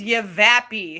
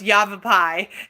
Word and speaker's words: Yavapai: I first moved here I didn't know how to pronounce everything when I forgot your liking what was it 2005 rum yeah and I was like what is give a pee and mr. tommix like you know it's Yavapai looks like you've a